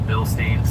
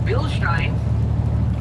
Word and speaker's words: Bilstein: We're going back together with some beautiful bill stains, which are pronounced Bilstein.